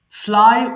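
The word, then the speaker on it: flew: ফ্লাই উড়ানো, ফ্লাই, ফ্লু, ফ্লোন। এটা সারা জীবন ভুল করে ফ্লিউ বলে আসছি, এটা আমরা সিম্পলি বলবো ফ্লু বলবো, হ্যাঁ?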